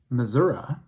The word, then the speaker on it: Missouri: summer the great people of the state of missouri actually it's pronounced missouri they flock by the thousands to several of